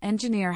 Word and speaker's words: engineer: For example, engineer has stress on the last syllable, ng i ne.